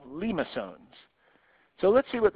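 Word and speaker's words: limaçon: So that's how you pronounce this word right here, limosones.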